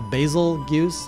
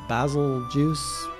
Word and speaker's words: Bazelgeuse: Turns out it's, probably gonna pronounce this wrong, a Bazelgeuse, a Bazelgeuse, Basil, it sounds like Beetlejuice.